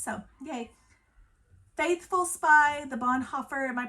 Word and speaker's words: Bonhoeffer: written for kids so yay faithful spy the Bonhoeffer am I pronouncing that wrong Bonhoeffer biography so good so